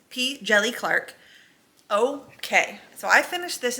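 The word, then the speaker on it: P. Djèlí Clark: And I did look up how to say his name. It is P. Jelly Clark.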